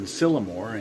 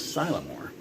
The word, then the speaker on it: Sylamore: I was saying Sylamore, and it's actually, I guess, Sylamore.